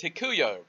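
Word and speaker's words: ἑλκύω: greek word 1670 and how you pronounce that is hikuyo and it simply means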